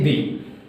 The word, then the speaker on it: the: টি এইচ ই দি শুধু কি উচ্চারণের দিক থেকে কোনটাকে দি বলবো কোনটাকে দা বলবো কখন আমরা দি বলবো কখন দা বলবো ঠিক আছে এবার এইটা